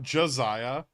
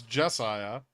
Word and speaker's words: Jesiah: But there's no O. It's not Josiah. It's Jesiah.